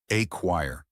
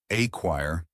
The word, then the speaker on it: acquire: tackle pronunciation listen carefully a choire notice that the stress is on the second syllable so say it with me acquire perfect now let's dig